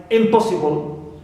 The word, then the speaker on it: impossible: Also, we have the prefix im, like impossible. So here po is stressed, but im is neutral.